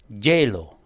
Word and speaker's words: hielo: Now, when we put that H-I-E there, many people would pronounce that hielo. So it's almost like Jello.